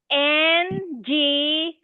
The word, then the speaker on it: Ngo: You can say NGO.